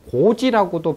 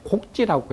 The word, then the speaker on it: 출필곡지: 그래서 곡이라고 발음될 때는 고는 그냥 아래다라는 뜻이고 가서 만나 뵙기를 청한다라고 할 때는 곡이라고 하는데, 여기 출필 고지라고도 발음되지만은 원래는 곡지라고 해서 출 밖에 나갈 때는 필 반드시 지자가 문장 끝에 오면 이 지자가 대명사로 쓰여요.